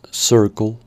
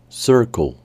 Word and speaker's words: circle: sonido tipo mientras que la e del final es muda Circle Circle y con esta